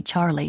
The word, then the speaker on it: Charlie: one to call me Charlie instead of Charlotte giving it a soft French lilt Charlie emphasis on both syllables it was Rose of